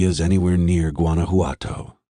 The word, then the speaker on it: Guanajuato: that they're heading to guanajuato pronouncing the j pope side there's no evidence v is anywhere near guanajuato he said pronouncing the word correctly replacing the j sound with an h sound i know i know